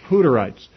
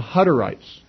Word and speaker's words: Hutterites: them Hutterites is that in English, if you have a double T in the word, that would make the U a short U instead of a long U.